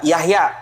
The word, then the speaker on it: Jahja: Ya, setelah itu kalau tulisan Y ya, kalau J itu contohnya Yahya, tulisannya itu Jahja. Jahja, Jahja. Ya, bacanya apa? Yahya, kan begitu.